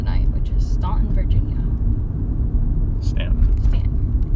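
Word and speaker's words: Staunton: which is ston Virginia Stanton ston I never can remember how to pronounce it spelled like that but it's pronounced the other way say it again Stanton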